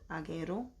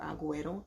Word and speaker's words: Aguero: particular his name is Anthony agero or Aguero I think that's how you pronounce the last name definitely look him up